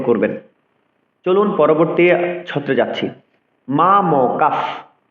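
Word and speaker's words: মামকাঃ: এর পরের ব্যঞ্জনটির দুবার উচ্চারণ করতে হয়, দ্বিত্ব উচ্চারণ করতে হয়। যেমন মা ম কাফ, মা ম কার পরে কিন্তু বিসর্গ রয়েছে, ৩ অক্ষরে কিন্তু আমরা বিসর্গটি পেয়েছি।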